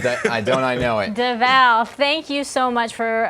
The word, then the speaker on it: Devale: to let you know my name is actually pronounced davao i'm sorry you're gonna kill me because it's davao yes yes my mom